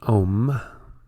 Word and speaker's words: om: the Destroyer and so when you've pronounce om you see here a the a sound emerges from the throat originating in the region of the navel the U rolls over the tongue the M ends on the lips a is